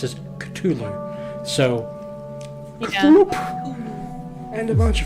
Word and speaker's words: Cthulhu: Cthulhu. In canon, no one knows how to pronounce these names. They're alien. I mean, So people like legitimately, Lovecraft wanted to pronounce it Cthulhu.